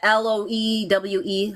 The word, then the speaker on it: Loewe: The LOEWE? How do you say that? Loewe.